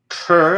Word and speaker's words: Kerr: higher so it's called the author is michael kerr i think you pronounce his name it's called the humor advantage